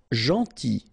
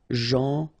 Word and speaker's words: gentil: Gentil. So it's a strange one because here this final L is not pronounced. Okay? Gentil.